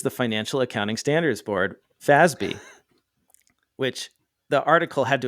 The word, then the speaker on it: FASB: of accountants is the Financial Accounting Standards Board fasby which the article had to explain how to pronounce because most people have never heard of